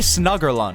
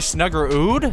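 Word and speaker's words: Snuggerud: the St Louis Blues with Jimmy snugger line I came to find out it's pronounced Jimmy snugger Ood so my bad both his father and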